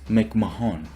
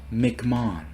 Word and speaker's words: McMahon: previous tier this video I kept pronouncing it as Mick Mahone except his last name is pronounced McMahon the second I finna